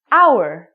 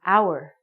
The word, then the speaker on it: hour: for example the word our we do not even say the H word it sounds like we're saying our so because this word our sounds like a vowel because the H is silent we have to say